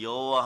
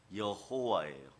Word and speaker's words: 여호와: 이 발음이 여호와 발음하고 똑같은데 스스로 있는 자라는 뜻이에요.